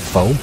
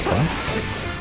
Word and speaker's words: pho: Like especially when they found out the proper pronunciation of pho. It's not pho, it's pho.